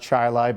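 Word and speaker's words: Chili: It's pronounced Chilai, by the way.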